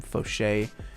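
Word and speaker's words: Faucher: guys don't know william foshee check out his channel um it is spelled william like voucher f-a-u-c-h-e-r william foshay he's got the best unreal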